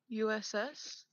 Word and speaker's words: Us: Is it pronounced just us or use? Us.